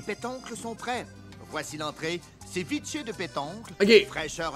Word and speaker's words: ceviche: Il dit ceviche. C'est comme, voyons non. Ceviche. On dit pas séviche.